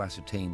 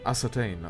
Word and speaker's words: ascertain: It is your mission to ascertain these rumors' veracity and act accordingly. Ah, ascertain. Okay, that is how you pronounce that word? I never saw that before. I was more as certain.